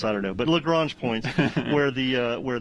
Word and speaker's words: Lagrange: where those asteroids are is it lagrange or lagrange i think depending upon what part of america or the part of the world you're from it could be a different different pronunciation you know daryl reminds me all the time it's lagrange but if you're from the south it's probably something else i don't know but